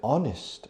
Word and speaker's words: honest: So in that case, it's a consonant. It's an H, but it's silent. So the sound of honest or honor or honorable is the sound of a vowel, although the word starts with a consonant.